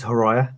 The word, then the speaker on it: Horaia: A number of people cannot pronounce the surname, so it's Horaia.